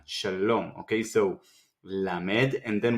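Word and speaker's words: שלום: Kamatz, A vowel, sound like the U in the word sun. A, Sha, and with the Lamed, you can say sounds. You can hear the sound O. Shalom, Shalom.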